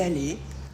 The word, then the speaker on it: allée: ne change toujours pas on ne prononce pas le E du féminin il est allé elle